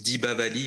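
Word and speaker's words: Deepavali: Et du coup, en tamoul, on dit Dibavali, en fait, hein, parce que chez les Tamouls, vous entendrez dire Dibavali. Et dans les autres États, on entend Diwali, parce que ça s'écrit Diwali.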